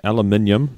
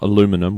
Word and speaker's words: aluminium: And basically, they think they've come up with a very fast charging aluminium, not aluminum. We say aluminium, so that sounds we say it right.